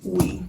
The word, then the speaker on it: oui: But I think it's pronounced we. Oui. Like Ooey. the Ooey. French word.